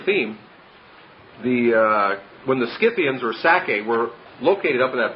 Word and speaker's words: Sacae: the Sacae was, again, I just picture the word Isaac, and Sacae is S-A-C-A-E. It has the syllable of sac, Isaac or Itzhak right in it.